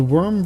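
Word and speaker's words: Wyrm: There's the warm uh the worm version. I keep trying to say it weirdly because it's spelled with a Y. It's W Y RM. Worm.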